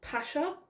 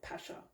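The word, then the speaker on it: Pascha: the Jewish Passover or it's called Pasha or from what I can tell Pasha I don't know if I'm saying it right but it's spelled p-a-s-c-h-a um now due to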